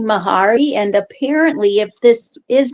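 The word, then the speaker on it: Mhairi: I was just looking up the name Mahari and apparently if this is meant to be the uh uh Scottish um Gaelic version, it's actually pronounced Vari. Um but uh it says uh Vari or Mahari depending on your um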